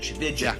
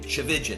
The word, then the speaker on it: Tchividjian: A lot of people they spend so much time working on the last name, Tchividjian. It rhymes with religion. Tchividjian, it rhymes with religion.